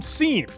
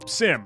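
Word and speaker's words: SIEM: set up our own seam or Sim however you want to say it right the security information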